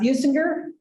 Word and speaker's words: Businger: Stephen, I forgot to ask, Businger? Very good. Okay, not a soft G. Businger is a certified consulting meteorologist, hence our little weather report, if you caught that before we got started.